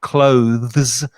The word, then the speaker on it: clothes: Don't forget the pronunciation of clothes. It's just one syllable.